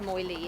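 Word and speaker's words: Moiled: an Irish Moi LED yeah more than it's pronounced moyli in Ireland Irish Molly it's about he's very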